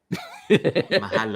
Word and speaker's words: mahalo: Mahalo.